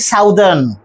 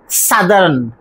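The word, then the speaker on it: southern: সাউথ যেটা বলি আমরা ওই প্যাটার্নে এটাকে বলি সাউদার কিন্তু না আমাদের উচ্চারণটা হচ্ছে সাদারন সাদারন তাহলে আমরা এই যে দুটো ভাওয়েল ও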